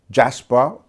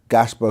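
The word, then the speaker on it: Gaspar: Again, this is who they call gas Jasper. It's spelled as with a G, but Gasper, who was one of the three wise men from Persia, excuse me.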